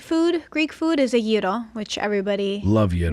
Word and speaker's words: gyro: Gyro.